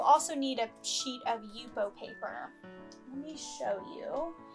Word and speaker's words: Yupo: will you will also need a sheet of yupo paper let me show you this is the pad of yupo paper that i use um it's spelt y-u-p-o